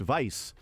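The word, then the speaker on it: weiß: lesson the color white is Wei B but pronounced Vice the uh B gets a double s sound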